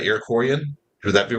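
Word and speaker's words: Iroquois: native tribes like the Cherokee, the Shauni, the Arocoyan. Um they all had uh traditions that kind of gave the early landscape a meaning like it wasn't just that's pronounced Irakcoy, my friend.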